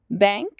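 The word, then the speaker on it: banca: तो होटल को होटल ही बोलते हैं, लेकिन उसके बोलने के स्टाइल में और प्रोनाउंसिएशन में थोड़ा चेंज है, तो उसको कहते हैं होटल। बैंक, बैंक आपको पता है जहाँ पर आप अकाउंट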